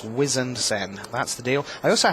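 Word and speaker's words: Wizened Cenn: It's Harbinger, and it's Wizened Sen.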